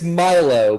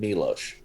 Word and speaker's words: Milo: after milo or milo i don't think we decided was it milo or milo it's milo but that uh one mpc mispronounced his name calling him milosh well you're the that